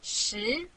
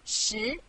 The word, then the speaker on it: 十: This is its syllable, 十. Repeat after me, 十. 十.